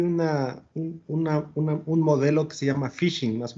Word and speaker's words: phishing: hay un modelo que se llama phishing, más o menos. No, tal vez lo estoy pronunciando mal, No, está pero perfecto, es phishing.